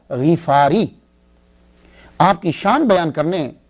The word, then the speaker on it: غفاری: یہ اصل میں کیا ہے کہ یہ غفار ہے، غین کے نیچے زیر ہے، فا کے اوپر سمپل زبر ہے، تو غفاری. تو صحیح تلفظ یہ ہوگا ابو ذر غفاری.